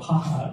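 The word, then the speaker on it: JAJA: place for you so it's pronounced as haha because it's Spanish yeah as you can see the interior design of haha is colorful fun Whimsical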